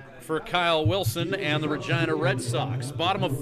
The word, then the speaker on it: Regina: Regina, once referred to by Mick Jagger as the city that rhymes with fun, at a Rolling Stone